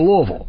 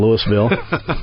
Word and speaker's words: Louisville: cuz they don't know what to do with that silent S in Louisville.